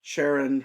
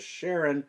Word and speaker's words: Charon: the dead down there sharon or charon the author has fun pronouncing it as sharon and then making those sharon jokes so there are some